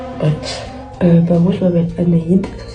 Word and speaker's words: Anahid: Bah moi je m'appelle Anaïde, ça s'écrit A N A H I D, il y a pas de lettre en plus, c'est tout.